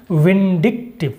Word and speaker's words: vindictive: to this second word the correct pronunciation is vindictive it refers to a